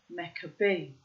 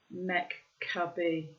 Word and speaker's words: Maccabee: Bruce Maccabee. So I pronounced that the Aramaic way.